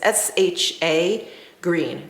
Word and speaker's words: shagreen: So that's why I like that kind of shagreen, that faux shagreen. And I think I'm pronouncing it correctly. It's S-H-A green, G-R-E-N. It's faux shagreen.